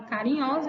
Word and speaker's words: carinhosa: escrita com ela mas quando eu pronuncio a palavra carinhosa ela tem som de z u s entre vogais